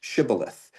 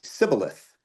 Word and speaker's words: shibboleth: They pronounce it, the way that we would say it now with like an SH, shibboleth. However, the Ephraimites, in their dialect of the language, they would pronounce that same word without the H and they'd say sibboleth.